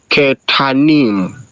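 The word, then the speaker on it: קטנים: So the shva at the beginning of a word is pronounced with an I sound. It would be ki, and then this is also an open syllable. The second syllable is open also.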